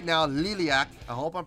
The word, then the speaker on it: Liliac: I did for Liliac, I didn't see the second I. All I saw was L-I-L-A-C. So I thought it was Lilac. I just swear to God, I did not see the I after the second L. I swear to you, I didn't. So that's why I was calling them Lilac. Now that I clearly see it's L-I-L-I-A-C, I would never call that Lilac, ever.